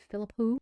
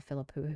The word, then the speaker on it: Philippou: believe, fulllength outing for the Philippo brothers. And I hope I'm saying that properly. I've looked it up a couple different places and that seems to be how they say it.